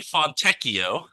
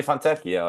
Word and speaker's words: Fontecchio: the Jazz traded Simone Fontinocchio. Fonteneco. Jared is so mad because he knows how to say this name perfectly already. I said it. Fontenecchio. Simone Fontecchio. Simone Fontecchio.